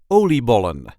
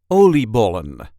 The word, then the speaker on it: oliebollen: a regular Dutch accent oliebollen, the Dutch fried dough. This is how we say oliebollen. Oliebollen. There is a light emphasis on the first part of the word.